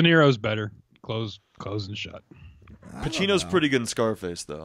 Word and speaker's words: Pacino: Pacino's pretty good in Scarface, though, I must say that. Yeah. Yeah. But his C doesn't have H in it. It's Pacino. You don't say Pacino.